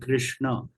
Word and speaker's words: Krishna: Rana run this knob below there is a DOT right so it should be pronounced like Krishna right now so and it should be given a little longer pronunciation so after much settlement